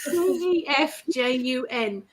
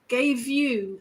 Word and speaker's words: Gefjun: It's spelled I was waiting. Gefjun. Gefjun.